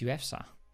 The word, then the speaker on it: ufsa: feza you get wait it's actually not you feza I've been saying your name wrong for years what's up man it's ufsa how do I pronounce